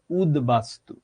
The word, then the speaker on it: উদ্বাস্তু: আবার দেখাই, বাস্তু, এটার আগে আসলো উত, হয়ে গেল উদ্বাস্তু। এই যেভাবে তুমি লিখেছো এভাবেই হবে উচ্চারণ।